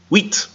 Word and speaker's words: wheat: Wheat. Okay. Now in English we spell it with an H, We do. but that's not actually how it sounds. No. It's just wheat.